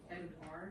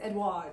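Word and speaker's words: Edouard: Edward. Yeah. And it's not spelled like Edward. It's spelled E D O U. O U. Oh, U. It's Edward.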